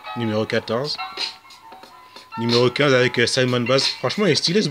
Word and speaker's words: Simon Baz: Lui c'est Simon Baz, ou Simon Baz, on prononce à l'américaine.